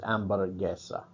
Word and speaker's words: hamburguesa: Notice with this, it is spelled hamburguesa via English, but the H's are silent in most Spanish words, so it's hamburguesa.